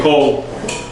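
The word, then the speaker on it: קול: Everyone say kol. Cold. And kol means Voice. voice. Now there's another kol. There's another kol. Kol. It sounds the same, but it's spelled a little bit differently, and it means all.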